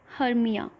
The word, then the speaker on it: Hermia: The second, Hermia.